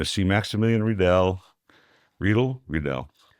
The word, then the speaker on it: Riedel: RLE Redell. The way you want to pronounce it, but it's RLE rhymes with needle.